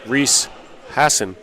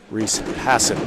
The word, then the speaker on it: Reese Hassan: Reese Hassan is the pronunciation. Thank you. Oh, that ball did not want to drop. Once again, apologies to number 4 of the Tommies, Reese Hassan.